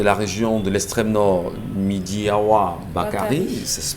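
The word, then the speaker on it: Midjiyawa Bakari: le gouverneur de la région de l'extrême nord, Midiawa Bakari, ça se prononce comme ça, est allé bien sûr au chevet de ces Camerounais réfugiés au niveau du Tchad aujourd'hui.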